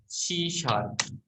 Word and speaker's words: C#: इस लैंग्वेज को सी शार्प न लिख कर क्या लिखा जाता है, सी हैश लिखा जाता है, लेकिन इसको बोला कैसे जाता है, प्रोनाउंस्ड किया जाता है इसको सी शार्प, है ना।